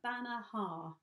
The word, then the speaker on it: Banaha: bana Havana hi-yah come see Neela do a banner ha that's how you pronounce it banner ha Bana ha yeah cool